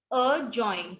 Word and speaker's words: adjoin: ठीक है, जब D और J इकट्ठे आते हैं तो D जो है वो साइलेंट हो जाता है. जैसे adjust, adjust, ड नहीं बोलेंगे. join, adjoin, ठीक है, adjoin, adjacent, adjoin.